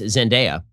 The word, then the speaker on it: Zendaya: holland and uh i've been informed that it's pronounced zendaya and um honestly the only thing about this